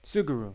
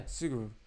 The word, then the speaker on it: Suguru: What's pronounce the guy's name? Um, Suguru. Yeah, Suguru.